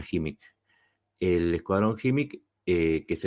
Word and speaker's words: Khimik: ahí está el escuadrón HIMIC, se escribe KHIMIK, y se pronuncia HIMIC.